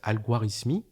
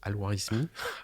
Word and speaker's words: Al-Khwarizmi: Le terme d'algorithme vient du savant perse Al-Khwarizmi, comme ça se prononce, Al-Khwarizmi, C'est au un nom 8e sympa.